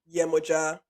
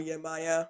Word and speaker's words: Yemoja: Um, so a bit about the origin story of Oko, and this is where Yemoja or Yemaya, there's sort of more diaspora pronunciation.